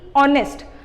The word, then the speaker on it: honest: Similarly, this word is beginning with H, which is a consonant, but since when you are pronunciating it, it should be honest. So what you will say is an honest man.